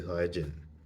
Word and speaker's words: Saiyajin: It's like yes, I know some people say Saiyan. Some people say Saiyajin.